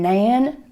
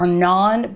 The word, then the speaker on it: naan: got some old fashioned nan bread or naan bread which is naa n so however you want to pronounce it and it's a hand